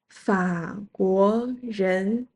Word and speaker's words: 法国人: 中国人 zhōngguórén and similarly French people 法国人 Fǎguó rén （some places say Fàguó rén) and someone from Germany